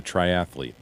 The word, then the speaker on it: triathlete: Triathlon Triathlon she's a triathlete she's a triathlete triathlete stop it you're adding a syllable you son of a triathlete triathlete four syllables triathlete triathlete yeah is